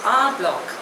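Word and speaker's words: en bloc: the next word is आ ब्लॉक spelling is ई एन बी एल ओ C pronunciation is आ ब्लॉक इट इज a French word it means all together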